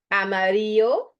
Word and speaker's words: amarillo: Amarillo, so the double L gets a Y sound, right?